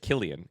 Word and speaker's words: Kylian: Kylian. I did. So, it's just Killian.